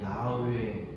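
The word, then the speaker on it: יהוה: 원문으로 그대로 발음하면 야훼 이렇게 발음이 됩니다.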